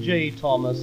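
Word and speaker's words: J. H. Thomas: the old horse but call him J Thomas with pangs of remorse cuz we know that the H is silent of course we frightfully BBC home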